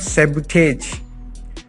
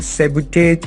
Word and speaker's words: sabotage: dictated behavior sabotage sabotage it is not sabotage this pronunciation is wrong sabotage is wrong sabotage it is a